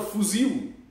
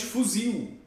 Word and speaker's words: fuzil: Por exemplo, a palavra fuzil. Tem brasileiro que só diz fuzil. Não consegue dizer fuzil. Dá com som de U.